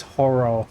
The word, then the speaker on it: horror: All right, that's not They don't pronounce horror correctly. How the did you even do that? two syllables and they turn it into one syllable which makes it